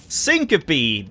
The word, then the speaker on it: Syncope: In Syncope, that's how it's pronounced. I looked that up.